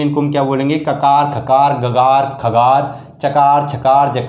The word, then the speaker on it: ककार: इनका अगर सही उच्चारण करना है दोस्तों, तो इनका सही उच्चारण कैसे होगा दोस्तों? इनके सही उच्चारण होगा, इनको बोलेंगे हम खकार, इसको क्या बोलेंगे हम? ककार। क्या बोलेंगे? ककार, यानी इसको ककार बोलेंगे, इसको खकार बोलेंगे।